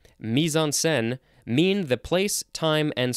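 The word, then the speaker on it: mise-en-scène: here's the synonym information background setting environment milieu misonsen mean the place time and circumstances in which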